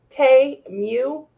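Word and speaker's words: Temu: the Super Bowl commercial they was saying Tay Mew? Tay Mew? I was like, oh, I don't like that. I like Timu better. Uh oh, My, have we been saying it wrong this whole time?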